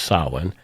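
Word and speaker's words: Samhain: um people believe back in the days of saan or it's it's spelled like Sam Hayne but it's pronounced sin um October 31st and November 1st supposedly marked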